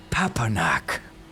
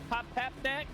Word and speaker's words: Papanak: Like you got to have to say it in syllables. I'm from Sandy. I don't fucking understand all these jibber jabber. Anak. Papnak? You nearly had it. You nearly had it. Yes. Like Pumpernickel. You know what?